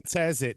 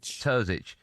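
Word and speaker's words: Terzić: Uh they are now expected to appoint uh Edin How do you pronounce it? His name is Terzic. Edin Terzic. Terzic instead.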